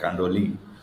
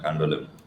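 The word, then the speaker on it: Candolim: like not pronounced. Oh, So interesting. it's Kandoli, not Kandolim.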